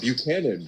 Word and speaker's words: Buchanan: Buchanan. Buchanan is how you pronounce it.